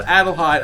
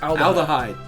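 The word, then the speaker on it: Adlehyde: at adhy adhy now everyone's been saying I've been saying it wrong it's called adhy I've been saying it alhy yeah adhy adhy is the correct place so here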